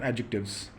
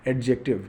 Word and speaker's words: adjective: they pronounce it as adjective but just uh just you know omit the word the letter D don't spell it we keep it silent say adjective or